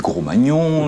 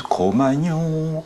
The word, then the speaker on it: Cro-Magnon: Certains l'homme du Gros-Magnon, l'homme du Magnon. Alors on dit l'homme du Cro, l'homme du Ma, l'homme du Gnon, l'homme du Cro-Magnon.